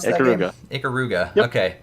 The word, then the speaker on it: Ikaruga: Is that how you pronounce that game? Ikaruga.